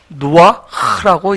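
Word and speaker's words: רוח: 우리가 영을 히브리어로 누아흐라고 얘기합니다. 이 헤트 뒤에 발음은 사실 이 성대에서 나오는 헉 이런 소리예요.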